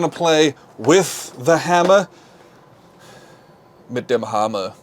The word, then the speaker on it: Mit dem Hammer: Mit dem Hammer is how it's pronounced in German.